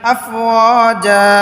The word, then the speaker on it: أفواجا: খালি আলিফ মদের হরফ আফওয়াজান হয়তো ওকফ করে পড়ার কারণে আফওয়াজা দুই জবরের উচ্চারণ তানবিনের উচ্চারণ এক জবরের উচ্চারণ হয়ে যাবে আফওয়াজা ওয়ারাআইতান নাসা ইয়াদখুলুনা